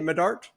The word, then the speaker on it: Medart: Is that how you say it, Medart?